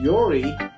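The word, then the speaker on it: Yuri: And Yori is Y-U-R-I. Really? Yeah, it's a letter Y. I know that is. Letter U. The letter R. And the letter I.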